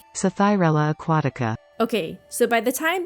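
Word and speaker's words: Psathyrella aquatica: Aquatica sci-fi thorella Aquatica oh man I should have really looked up how to say this before recording uh this is how you actually say it sathyarella Aquatica okay so by the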